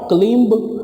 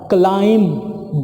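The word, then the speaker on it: climb: clean पढ़ लेते हैं नॉट क्लाइंब नॉट क्लाइंब बट क्लाइंब 20 यौन टोटली साइलेंट क्राइम क्लाइंट चढ़ना ऊपर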